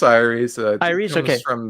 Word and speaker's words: Aeres: From the creators of the Chronicle, I always pronounce it Aries.